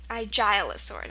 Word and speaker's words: Aigialosaur: Aigialosaur or Aigialosaur. Aigialosaur. That's the proper way to say it.